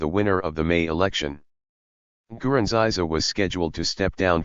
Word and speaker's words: Nkurunziza: Nkurunziza, pronounced Nkurunziza, who said he believed he was divinely ordained